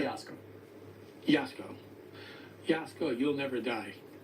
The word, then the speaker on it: Jasko: how do you say your name again J yasco yasco yasco You'll Never Die your physical being